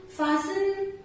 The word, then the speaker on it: fasten: Words are given where T is silent. In words के pronunciation में T silent रहता है. So the words are like castle, depot, listen, often, fasten, bristle, kitchen, Christmas, rustle.